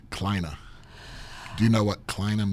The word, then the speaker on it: Kleine: That's a German name. You know how it's pronounced? How? Kleine.